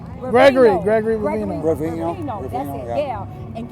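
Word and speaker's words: Bovino: Ravino. Gregory Ravino.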